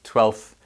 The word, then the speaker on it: twelfth: pronounce every single letter you can pronounce that without saying the f sound near the end it's easier to say and most people i know pronounce it twelfth you don't pronounce it